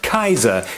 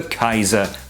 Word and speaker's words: Kaiser: on the title of Kaiser which is quite simply the Latin Caesar but pronounced the German Way and later holy was